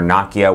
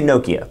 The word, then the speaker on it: Nokia: flagship nokia windows phone or nakia whatever you want to pronounce it I say Nokia so that's what we're gonna call it Lumia 928 brings it